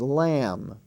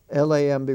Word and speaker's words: lamb: in lesson 21 23 we take up m as spelled m b in such words as lamb l-a-m-b we don't say lamb we say lamb jam